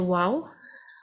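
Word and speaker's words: و: For the letter waw, we need to round and encircle our lips to pronounce it. Wow, the lips will contract.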